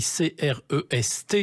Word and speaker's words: Crest: Alors, attention, il faut bien prononcer Crest, ça s'écrit C-R-E-S-T, donc on a tendance à dire Crest, mais c'est Crest comme s'il y avait un accent circonflexe.